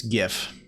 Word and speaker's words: GIF: It's pronounced GIF like the peanut butter, not GIF.